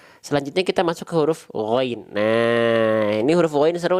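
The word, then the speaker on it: غين: g itu berbeda ya Kalau teman temteman melafalkan Gin di sini itu bayangannya seperti Huruf g ya nanti melafalkannya gini waagossaqo wag go ahah nanti gitu nanti gitu pelafalannya jadi beda antara gain dengan G itu beda Walaupun memang huruf Gin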